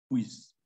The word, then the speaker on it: puisse: Alors, il y a une différence en français avec le S, le double S et un seul S, d'accord? Alors, au moment de trouver le double S, alors en effet, on va prononcer comme un S sans vibration, d'accord? Si vous mettez votre main sur votre gorge et il n'y a pas une vibration, d'accord?